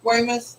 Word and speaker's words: Weymouth: that right north fork pronounce it like dartmouth but instead of dar say way way miss weymouth yeah yeah we the